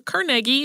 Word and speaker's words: Carnegie: In 1889, he created a ventilation system for Carnegie Hall, or Carnegie if you like that pronunciation, but most people accept Carnegie Hall as the pronunciation on that one.